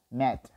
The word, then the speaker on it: met: Acá lo vamos a pronunciar con una i, meet, pero acá lo vamos a pronunciar con una e natural, met, ¿correcto?